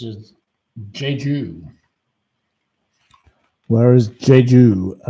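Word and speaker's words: Jeju: It's pronounced as Jju.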